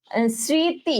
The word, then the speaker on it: স্মৃতি: মাঝখানে যে একটা ম আছে, ম ফলা আছে, এটা কিন্তু আমি উচ্চারণ করতেছি না।